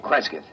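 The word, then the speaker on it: Cresgyth: instead as um well, I'll I'll spell it. C R E S G Y T H. Kresith. What's that, Local? Well, that's his phonetic interpretation of the name the people here use.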